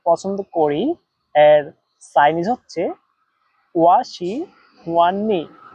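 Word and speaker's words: 我喜欢你: আমি তোমাকে পছন্দ করি এর চাইনিজ হচ্ছে ওয়া শি হুয়ান নি। এবার আপনারাও আমার সাথে উচ্চারণ করেন, ওয়া শি হুয়ান নি। ওয়া শি হুয়ান নি, আমি তোমাকে পছন্দ করি।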